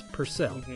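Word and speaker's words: Purcell: to pronounce his name his last name is pronounced per like the cat then add the word cell so it's pcel or pel sorry I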